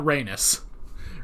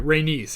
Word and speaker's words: Rhaenys: was a woman renis okay not reynos reynese i gotta try to remember that because reignus did not sound right all right rhaenys excuse me sorry um